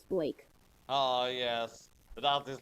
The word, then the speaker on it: blak: A black Oh, you you you keep Sorry, I hate to interrupt, but you kept saying black. It's Blake.